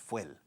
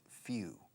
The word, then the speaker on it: fuel: Se escribe fuel, y aquí en español he oído mucho es fuel, pero cuidado, en inglés no es fuel, it's few. Como unos pocos.